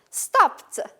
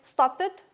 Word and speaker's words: stopped: Stopped. What do you hear? Do you hear ED here? Do I say stop it? No. Stopped, I have P and T.